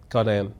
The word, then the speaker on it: Ghanaian: Um can you speak to the role of um I want to pronounce it is it um Ghanaian Ghanaian. Ganaan.